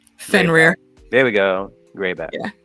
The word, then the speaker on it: Fenrir: Answer is Rainier? I cannot pronounce his name. Fenrir.